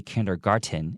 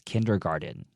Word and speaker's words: kindergarten: and then make sure the T at the end of kindergarten it actually is pronounced more like a D so don't say kindergarten it's kindergarten single mother Oh Wanda